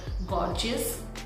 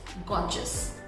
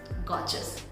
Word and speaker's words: gorgeous: So how we used to pronounce this word, gorgeous, okay? But here R is silent, so it's gorgeous, gorgeous, gorgeous. What a gorgeous lady. So it's not gorgeous, it's gorgeous, gorgeous.